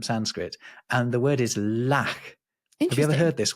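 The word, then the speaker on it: lakh: originally it's from Sanskrit and the word is lack have you ever heard this word how do you spell it l a k h and if you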